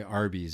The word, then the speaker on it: Arby's: That's why Arby's is called Arby's. Arby's. Roast beefs. And it's it's stand it stand it's the way to phonetically say or it's the way to say the letter RB Arby's.